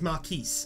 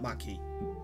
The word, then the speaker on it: marquise: i checked it is marquise actually obviously yeah marquise or marquis the s sound is pronounced i i did check that it's not my key anyway it doesn't matter